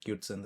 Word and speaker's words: QT Synth: The software is called QT Synth or Cute Synth as I like to pronounce it.